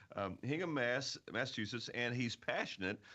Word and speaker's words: Hingham: so I had to I want to say gingham because the the pronunciation is a little different than it looks Hingham Mass Massachusetts and he's